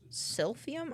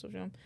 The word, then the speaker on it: silphium: Or a species of giant fennel, silphium.